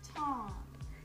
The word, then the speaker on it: Taney: See, my name is spelled Taney, but it's actually pronounced Taney. Like this. T-A-W-N-E-E. Say it with me. Taney.